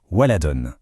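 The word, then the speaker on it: ولدٌ: Voici le mot waladoun qu'on prononce waladon.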